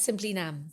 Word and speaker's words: Simply Nam: You have launched a brand called Simply Nam. Yes. Is that how you pronounce it? Yes. Simply Nam.